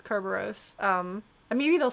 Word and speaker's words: Kerberos: got like a kerberos it's not cerberus it's kerberos um and maybe they'll